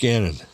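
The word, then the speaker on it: Gannon: H rhymes with Cannon. Rich Ganon.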